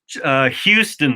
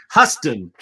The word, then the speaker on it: Huston: Wait, it's not Houston. I said it wrong. Wait, what? What is this stuff? What's going on over there? I don't know. Benson. Charlie Houston. Okay, Charlie Houston. Yes. Huston. That's my problem. Because I don't know how to say it.